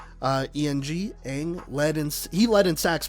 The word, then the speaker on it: Eng: They're also losing, I believe it's pronounced Daniel Eng, E-N-G, Eng.